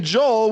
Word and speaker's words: Joel: What are 3 words that rhymes with your name? 3 Hole. words. Hole. Uh-huh. Hole. Coal. Roll. Awesome. Awesome. Very good, Joel. Those are 3 words that rhyme with the name Joel, which is your name.